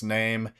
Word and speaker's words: Naim: This stars Joe Bird from Talk to Me as Name, Stacy Clausen as Ryan, and Mia Wasikowska as Name's mother, Arlene. And Name's name is spelled Naim.